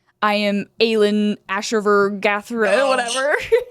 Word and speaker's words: Aelin Ashryver Galathynius: It's Aelin Ashryver Galathynius.